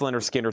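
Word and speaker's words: Lynyrd Skynyrd: Leonard Skard Pronounce Leonard Skinner 36.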